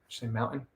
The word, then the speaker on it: mountain: Like I don't pronounce mountain with a T. I just say mountain.